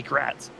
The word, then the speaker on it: Gratz: How do you say his last name? The 9. It's gonna be Gratz.